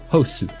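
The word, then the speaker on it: ホス: This one may not be obvious due to the very different spellings and pronunciations, but the Japanese pronunciation of Hoth actually is Hosu.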